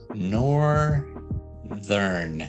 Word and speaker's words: northern: my tips here but do we say the e before the r in northern no you we don't see correct yeah we just go straight from the th sound to the r to